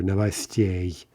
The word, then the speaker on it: новостей: And there, that stress shift is somewhat unexpected. But again, we see that yay is quite often stressed. You might not necessarily expect that for certain in a 2-syllable word, but anyway, that is the stress here.